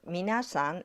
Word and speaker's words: みなさん: Japanese learners often get confused about the pronunciation of minasan and mina. But minasan doesn't have an sound between mi and na.